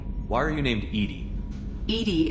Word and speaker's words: EDI: are you named eating Edie is the phonetic pronunciation of EDI that is an acronym